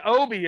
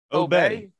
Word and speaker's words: Obey: thought it was Obi. Are you getting all fucking fancy with the How way do you you- pronounce how it? do you say spell it? Obey.